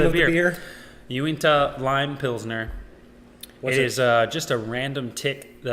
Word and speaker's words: Uinta: I have a Utah brewery that I have no idea how to pronounce. Uinta. Uinta?